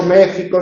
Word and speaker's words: México: Por eso México se escribe con X, pero se pronuncia con J.